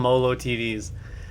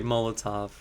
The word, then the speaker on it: Molotov: I used to call them Molo TVs. I when I when I was streaming back in the day, like we're talking 10 15 years ago, people would be like, "You're saying it wrong." They're like, "What are you saying?" I'm like, "Molo Molo TVs. Am I the only one that did that? It's really Molotov.